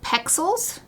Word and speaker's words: Pexels: So for instance, I think it's called Pexels. It's like pixels but spelled with an E instead of an I.